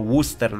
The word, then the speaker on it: Worcester: Nie czyta się tego Worcester, Worcester, czyta się to Worcester, Worcester, tak jakby było w o. Podobnie, a dalszą część jak w wyrazie Leicester, czyli nazwa miasta brytyjskiego,